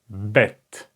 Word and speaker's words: bet: middle this is BET like in English the word a Burden Burden this is the sound it makes bet and in writing form